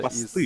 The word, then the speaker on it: аванпост: Аванпосты. Из... Да, аванпосты. Аванпост, товарищ коллега. Ударение да? На О. Да.